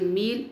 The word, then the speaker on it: meal: M, il, meal. In meal there are two vowels. M, E, name of the vowel. A is silent.